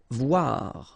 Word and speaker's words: voir: Voir, okay, same thing here, OI, OA, voir.